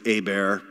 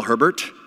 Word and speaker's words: Hebert: my real name is a bear like a bears attacking me of H is silent the EES like an